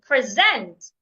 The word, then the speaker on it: present: Present. Present. Is the present you're saying louder, longer, and clearer. If the word has two syllables and it's a preposition, stress the second syllable as well.